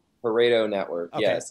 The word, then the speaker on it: Pareto: Pareto Network.